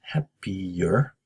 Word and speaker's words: happier: For pronunciation, happier, between the I and the E here, we put a Y sound in there. だから、happy, y, happier, the happiest.